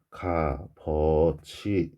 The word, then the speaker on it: 값어치: 그러면 비읍 시옷의 경우 갑이라고 발음이 나요. 그래서 이 녀석은 발음을 했을 때 여기 쓸게요. 갑 어치인데 그러니까 여기에 지금 시옷은 없어지고 이 비읍이 뒤로 넘어가야 되겠죠. 여름 돼야 되겠죠. 그래서 최종 발음은 가버치 이렇게 납니다.